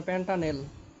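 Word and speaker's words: pentanal: তাহলে এটা কয় কার্বন বিশিষ্ট, 1 2 3 4 5, 5 কার্বন বিশিষ্ট, মানে পেন্টানেল। নেল, নট নল, নল কিন্তু অ্যালকোহল, ঠিক আছে, নেল।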